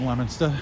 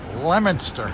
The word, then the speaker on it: Leominster: Appleseed grew up in Leominster, and this is obviously not the likeness of what Johhny Appleseed was seeing back in the day.